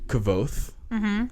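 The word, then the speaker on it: Kvothe: get by um the main character's name is kvoth it's spelled k v o t h e okay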